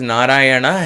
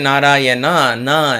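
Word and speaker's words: Nārāyaṇa: word narayana there because narayana has to be pronounced like this if you say narayana has a no then it is not the right way to pronounce and therefore the efficacy of that chant of that sound becomes lesser if this sound na ras there is a na na there narayana so there are two nuns there coming you have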